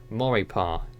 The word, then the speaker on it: Maurepas: Morgan City Louisiana including Lake Pontchartrain and Lake Maurepas is that how it's pronounced Nelson or paw yeah you got it